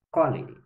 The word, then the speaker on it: colere: Em latim se pronuncia colere, que significa cultivo.